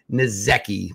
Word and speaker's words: Nsekhe: Also signed Ty Nsekhe, pronounced like Mike Jazeki.